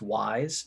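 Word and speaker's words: Wyze: really like products by i believe it's pronounced wise w-y-z-e hard to get now they're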